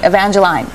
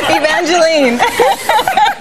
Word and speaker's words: Evangeline: think it's you know I think Evangeline is more a Canadian expression or or or um pronunciation of the name because here everyone wants to call me Evangeline is that right and